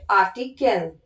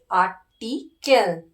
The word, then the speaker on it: Artikel: In German it is articles, but in English it is articles, but in German how to pronounce is it Artikel. Artikel. Artikel.